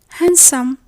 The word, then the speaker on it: handsome: We mentioned before that the D is silent in some English words. Yes, definitely. It's in words like handkerchief, handsome, Wednesday, and sandwich.